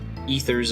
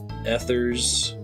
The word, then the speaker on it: ethers: i was a kid i pronounced ethers as a Thurs I said elixir right